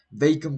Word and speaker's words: vacuum: Dishwasher, que es la de lavavajillas, vacuum cleaner, que es la aspiradora, se pronuncia vacuum, no vacuum, es vacuum, y vean que es una palabra difícil porque va con dos U, o sea, es V-A-C-U-U-M, vacuum cleaner, aspiradora, cooker, que